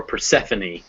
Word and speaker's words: Persephone: So recipe, cafe, or Persephone, the Greek goddess of spring, those words all have you pronounce the E.